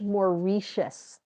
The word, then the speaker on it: Mauritius: So, it's pronounced Mauritius. The person in Congo told me it's more like that than what I was saying.